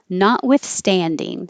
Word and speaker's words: notwithstanding: and A Z Thames notwithstanding Stan is secondary stress which means it gets longer but not higher because you don't want to have too jumpy notwithstanding not withstanding notwithstanding however